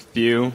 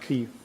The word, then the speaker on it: Thieu: Like Thew, like it's like Thew. like in like French names, how they, like French people, how they like pronounce like or like spell like Matthew. Yeah. It's like Matt and then my last name. So like just imagine like Thew part of Matthew.